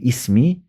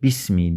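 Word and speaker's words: بسم: Ama başına B ile geldiği zaman besmeledeki bismillahirrahmanirrahim dediğimizde oradaki bismi arasındaki o i bir ismi değil de bismi diye okunuyor. Dolayısıyla o aradaki vasıl hemzesi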